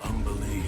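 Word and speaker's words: Umberlee: What do you know of Umberly, Astarion? Oh, lots. Rhymes with undersea, for one thing.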